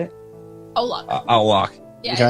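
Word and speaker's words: Au Lac: It was a vegan restaurant in downtown LA called Owl Lock, or how do you say it? Owl Lock.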